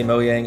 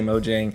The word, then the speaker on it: Mojang: hey look we know in sweden people say moyang and the u.s people say mojang regardless of how you